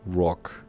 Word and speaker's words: Roc: So, why is it Vanguard Roc and not R.O.C? So, if you look at these, this is Eagle, Viper, Wolf, Tiger, it's all animals, right? So the Vanguard Roc, for people that don't know, the Rokh is actually a mythical animal, and there's a Wikipedia